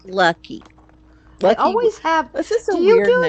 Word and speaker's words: Lucke: is what I've said and my name is lucky so it's not oh it's lucky yeah it's lucky did I spell it wrong no it's it's